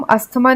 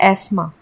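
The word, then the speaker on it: asthma: क्या होता है इसे अस्थमा को हम अस्थमा नहीं बोलते इंग्लिश में हम इसे बोलते हैं एस्मा इसे हम हेयर नहीं बोलते इसे हम बोलते हैं एयर क्योंकि इसमें एच साइलेंट है और अस्थमा में टीटीएच साइलेंट है तो ये एस्मा हो गया फिर आइसलैंड नहीं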